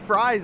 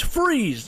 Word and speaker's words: Fries: It's not Fries. Yeah, it's Freeze, but I've always said Fries, but it is Freeze. It's spelled Fries, but he says Freeze, so we'll leave it at Freeze.